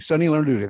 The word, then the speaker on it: Sunny Lenarduzzi: I always mispronounce her name. Lenarduzzi. Say that again, Gina. Sunny Lenarduzzi. Sunny Lenarduzzi. Thank you, Gina.